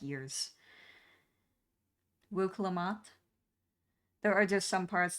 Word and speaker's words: Wuk Lamat: Wuk Lamat.